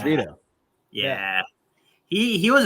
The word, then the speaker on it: Vito: and I found out Von Cruz I don't know if that's how you say it's big veto yeah it's Vito yeah yeah he he